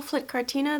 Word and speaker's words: Flytte Kartina: Hi guys, welcome to my channel, Flytte Kartina. That's how you pronounce it, that's how you should pronounce it, and yeah.